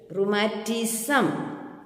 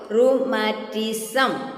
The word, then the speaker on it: rheumatism: Is equal to rheumatism. rheumatism. It is a meaning, you can look into the dictionary. In Malayalam we say vadam. Okay. Then the word ru rhymes with the kangaroo.